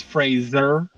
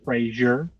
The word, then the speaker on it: Fraser: so easy go ahead man just want to say it's Fraser not Frasier did I say Frasier yeah literally just did